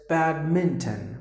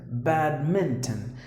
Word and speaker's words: badminton: So this is a mispronounced word just because we just leave out the letter N. But then the letter, you just have to pronounce the word as badminton, badminton. You have to include the letter N as well.